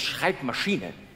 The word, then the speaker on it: Schreibmaschine: Man nennt es Schreibmaschine. Betonung auf Maschine.